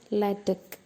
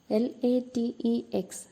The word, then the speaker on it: LaTeX: Today we are going to learn about LaTeX. L-A-T-E-X. We normally read it as latex, but it is pronounced as LaTeX.